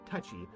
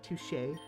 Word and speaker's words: touché: Touchy. I think it's pronounced touché.